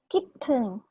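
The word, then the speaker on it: คิดถึง: Jadi kalau dipecah satu-satu, ini adalah kelas rendah, konsonan kelas rendah. Yang ini huruf I-nya vokal pendek, dan ini akhiran mati. Jatuhnya tinggi. Kiteng. Tahu artinya apa? Kiteng.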